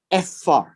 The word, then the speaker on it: ephah: Ephah. Okay. And it is pronounced this way.